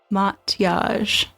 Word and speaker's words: Mathias: Mathias. Think mot with an ah sound and stress yage like you say garage.